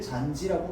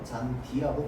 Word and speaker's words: 잔디: 그래서 우리는 얘를 잔지라고 발음하지 않습니다. 그렇죠? 잔디라고 발음합니다.